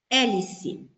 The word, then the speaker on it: hélice: Hélice. Vamos ver aqui. Olha, hélice. Cada letra é um som. E aqui você percebe que não se pronuncia o H.